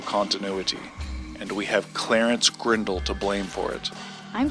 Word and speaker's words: Grindle: in an accidental continuity and we have Clarence grindle to blame for it I'm sorry did you say grle no no grindle grindle um g r i n d l e